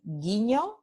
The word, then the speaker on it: guiño: Cuando GU viene seguido de E o de I, so when you have the sequence of letters GUE or GUI, okay, the GU represents just the sound G.